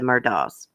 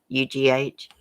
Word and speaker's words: Murdaugh: It was spelled like daughter. It's like Murdaugh.